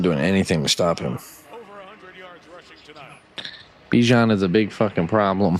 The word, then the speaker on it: Bijan: was a story in an interview that it's Bijan, and that's the way his mom and his grandma like it pronounced.